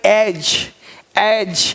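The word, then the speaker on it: edge: एक पढ़ना है, देखो अब EDG है, अब 8J नहीं पढ़ेंगे, EDG 8J ऐसे नहीं पढ़ेंगे, ये पढ़ेंगे एज, यानी डी को साइलेंट कर दिया, एज मतलब किनारा।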